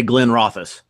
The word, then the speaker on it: Glenrothes: So yes, Glenrothes. Good man. I would say Glenrothes. Good guys. Well done. Well done. I've heard that pronounced Glenrothes.